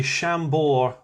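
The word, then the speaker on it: Chambord: how it's spelt but you don't pronounce the d at the end of it okay oh oh that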